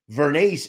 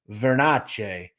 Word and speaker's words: Vernace: want to discuss their pronunciation of Bobby glass's last name veres vernes is Americanized if you go to Sicily the pronunciation is verace now I do want